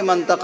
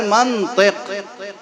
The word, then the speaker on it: منطق: ہی ختم ہو جائے۔ ہمارے علاقے میں لوگ منطق بولتے ہیں، ہم بھی منطق بولتے ہیں۔ اب ہم کیسے سمجھائیں آپ کو کہ منطق غلط لفظ ہے؟ اصل لفظ ہے منطق۔ اب کسی عرب سے پوچھئے کہ منطق کیوں ہے، میم پہ زبر کیوں ہے اور تو کے نیچے زیر کیوں ہے، وہ ایک ایک سوال